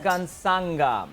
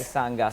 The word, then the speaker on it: Mukansanga: Mukansanga, if I have pronounced it correctly. Yes. Mukansanga.